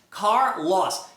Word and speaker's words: Carlos: Car, loss, car loss, Carlos. Carlos. Aí você termina, tira o loss ali, ó, o Carl. Carl, Carlos, Carl, Carl.